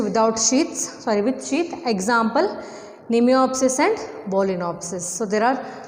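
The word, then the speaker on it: Mnemiopsis: Example, Nemiopsis. M is silent. Nemiopsis.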